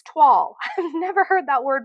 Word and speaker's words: toile: I call it toily, but people on YouTube call it toile. So maybe I just don't know how to say it. It's Toile, and to me that looks like toily, but apparently it's toile.